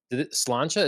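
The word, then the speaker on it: sláinte: Cocktails so very cool well Cheers Cheers or slancha is that a Irish something close to that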